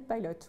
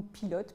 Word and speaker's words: PILOT: mission scientifique qui s'appelle PILOT, ou PILOT pour ceux qui préfèrent le prononcer à la française.